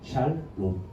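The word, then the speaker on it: שלום: 그리고 O 발음이야. 샬롬.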